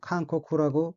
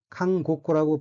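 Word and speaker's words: 韓国: 할 사항이 하나 있는데요 한국은 칸코쿠라고 발음합니다 자칫 칸고쿠라고 발음하면 감옥이란 뜻이 되기 때문이죠 미국도 마찬가지로 베이코쿠로 발음합니다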